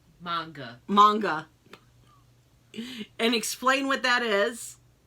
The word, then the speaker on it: manga: And then you got, how do you pronounce it? Manjang? Manga.